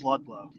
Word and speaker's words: Ludlow: It's good, man, but we got to say it right, brother. It's Ludlow.